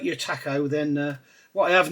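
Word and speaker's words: Takom: got the brand new Taco on the way uh not tacum not tacum the kit manufacturer Taco the shap taco however you pronounce it and there's going to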